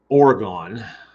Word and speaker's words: Oregon: of ours out in oregon oregon that's how you say it if you're from there everybody else calls it oregon but uh and the